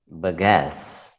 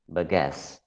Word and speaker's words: bagasse: The next word is bagasse. Bagasse. Bagasse. Bagasse. Bagasse. 2 syllables.